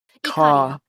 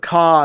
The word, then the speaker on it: Ka: Ka. Icaria. Mr. Just Icaria. think of the Icaria family and think of Ka as in cock.